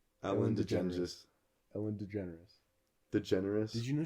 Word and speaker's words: DeGeneres: say her last name DeGeneres digensis that's not how you say your last name Ellen degenesis Ellen DeGeneres the generous did you